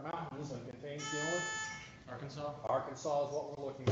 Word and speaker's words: Arkansas: II here's the tossa it's one of the two US states whose last letter is an unpronounced S it is home to both the wat and Ozark Mountains and contains the only Arkansas Arkansas is what we're